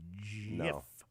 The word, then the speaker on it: GIF: be pronounced it's a JF just like the Giants play in football and giraffes have long necks G stands for graphic